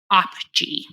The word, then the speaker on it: OPGEE: Oil Production Greenhouse Gas Emissions Estimator Model, or OPGE, and that's spelled OPGEE.